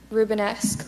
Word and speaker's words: Rubenesque: e I see h e CH number 35 rubenesque rubenesque may I please have the definition rubenesque means of or relating to or having the characteristics of this painter rubenesque language of origin it comes from a Flemish